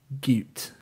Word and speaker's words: Goot: Also, my name is pronounced like Newt with a G. Goot.